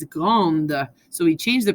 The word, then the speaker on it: grande: Elle est grande. Okay, so notice when it's a female adjective, you hear the end of the word. It's not petit, it's petite. It's not grand, it's grande.